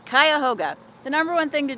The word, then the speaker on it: Cuyahoga: to see how to say it but it's kayoga the number one thing to do in kayoga